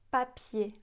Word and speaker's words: papier: Si on met la main devant la bouche, papier, on sent pas d'air. Alors qu'en anglais, si on dit paper, on sent l'air qui arrive sur la main.